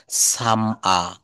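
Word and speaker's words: summer: বাক্যের শেষে আর থাকলে ব্রিটিশরা কিন্তু আর এর উচ্চারণটা করে না। এই দেখেন সামার, সামার, এখন লন্ডনে বা আমেরিকায় যদি সামার চলে থাকে, সাম আ, সাম আ।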